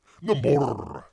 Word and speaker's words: Namor: Namor with an R. You got the R, roll your R.